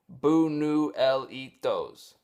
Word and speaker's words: Buñuelitos: You can find a commercial for this stuff on YouTube where they show you how to pronounce it, Buñuelitos.